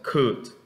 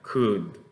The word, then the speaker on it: could: Entonces, esa palabra se pronuncia could, ¿ok? Could, con una D al final, could, ¿ok?